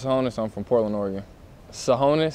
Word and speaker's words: Tsohonis: i'm from portland oregon sahonis so that t is silent it's t-s-o-h-o-n-i-s shoot nah